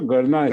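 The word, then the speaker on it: Gurnah: Is Gurna the right pronunciation or Gurna?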